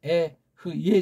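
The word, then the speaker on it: אהיה: 알프 해 요드 해 이거 발음은 성경 나와 있듯이 에흐예 아아 그렇죠에 에흐예 또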